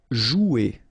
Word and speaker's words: jouer: Okay, remember you combine this O and U, you get the sound OU, so joue. Okay, J is pronounced like J, joue, and then ER here, you combine them at the end, et, jouer.